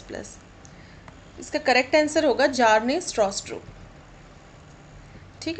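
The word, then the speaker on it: Bjarne Stroustrup: इसका correct answer होगा जार्ने स्ट्रॉस्ट्रो। ठीक है, option number C, B silent रहेगा यहाँ पे, तो जार्ने स्ट्रॉस्ट्रो।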